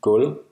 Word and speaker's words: Gulv: V is silent after L. For example, Selv. meaning self, and Gulv. meaning floor. It's also silent after the vowel U.